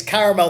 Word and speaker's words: caramel: But for the purposes of this song, there's an extra A. It's clear there is an extra A. Yeah. It's been pronounced. He's made it clear. It is caramel.